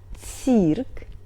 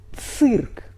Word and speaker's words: цирк: Vowel И shows that consonant before must be soft but Ц is always hard, so we pronunciate this word . Not but . Hard Ц.